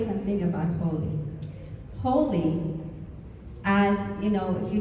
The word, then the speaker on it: Holi: Holi, as you know, if you don't know how to spell it, it might sound like H-O-L-Y, and it's